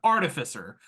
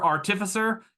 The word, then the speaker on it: artificer: also the newest one artificer you might also hear artificer and I don't like that I'm an artificer is how I personally pronounce it so artificers are